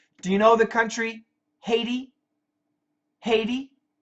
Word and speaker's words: Haiti: you know the country Haiti Haiti when I lived in Korea the prononciation was ity ity Haiti in in the Caribbean